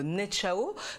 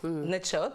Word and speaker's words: Netchaot: Tu en as un autre qui vient donc de Montfaoué, un autre de Netchao. Donc en fait, ça va faire Netchaot, pardon. Merci Elise pour la prononciation.